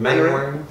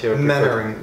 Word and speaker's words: Mainwaring: Did I pronounce it right? Mainwaring. Mainwaring. Both will do, yeah. What's your Mainwaring.